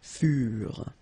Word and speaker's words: furent: Keep in mind that ENT, you know, the ending for the plural form is never pronounced, so furent.